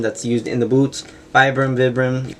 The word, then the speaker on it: Vibram: Vibram, I'm going to say Vibram even though that's supposedly the incorrect pronunciation, but yeah, it's just a nice little detail that they add.